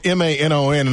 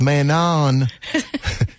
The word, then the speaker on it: Manon: Because it's spelled M-A-N-O-N, and before we go in there, I'm like, Miss Trevigne, is it pronounced Manon? She said, no, it's Manon, like croissant.